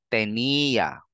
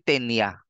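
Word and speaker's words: tenía: sa ibabaw ng e Let's Make sure we pronounce it correctly habaan mo ng konti yung yung bigkas doun sa e tenia hindi tenya Habaan mo pa tenia ganon no Asia Hahabaan natin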